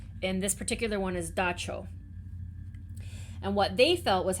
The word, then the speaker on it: dab tsog: And and according to the paper, it's pronounced dacho.